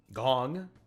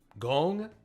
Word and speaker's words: Gong: mispronunciation of the name the o in gong is a long o gong gong i don't know i